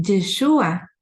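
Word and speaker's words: ישוע: el nombre del mesías es yeshua con acento en la u que significa el salvará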